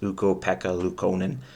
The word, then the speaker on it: Ukko-Pekka Luukkonen: Now, if you could pronounce his name, you say his name. Take some practice, Ukko-Pekka Luukkonen.